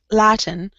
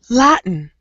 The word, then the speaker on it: Latin: Latin. But if you want to do this sound, and we use it a lot, Latin.